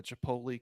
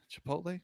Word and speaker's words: Chipotle: they were all hot Chipotle did I say it right didn't that the second one was right Chipotle yall know oh man